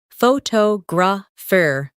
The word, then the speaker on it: photographer: Some words are pronounced with extra emphasis on one part. For example, photograph, photographer, and photographic. The stress moves and that changes the sound.